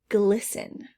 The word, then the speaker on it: glisten: of to sparkle glisten i don't hear that t silent d door knob